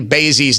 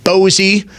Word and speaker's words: Basie: I am told we have been pronouncing Leslie Basie's name wrong. For that, I do apologize. It is not Bosie. It is not a Bosie headphone. It is Leslie Basie.